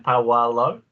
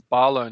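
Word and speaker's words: Paulo: you say his name paul lowe that's barlow now i'll turn that p upside down and flip it around there you go there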